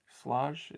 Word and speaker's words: Schlage: We sold a Schlage. Slage. Is that how you pronounce it?